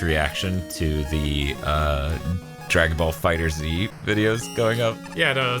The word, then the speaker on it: FighterZ: I'm not gonna call it Fighters, but I am gonna compromise by running Fighter and Z together to make FighterZ. You can't just pronounce it as an S like most people.